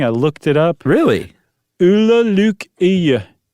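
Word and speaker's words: Ole Lukøje: Ulla Luke Iya. Wow. And it's not dead on, but it's okay.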